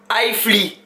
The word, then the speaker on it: iFly: Il y a iFly, on prononce ça comment même? iFly, le Instagram est là.